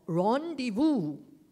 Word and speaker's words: rendezvous: You corrected my pronunciation of rendezvous, all right?